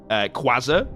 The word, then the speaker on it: Quasar: Quasar is how you say your name.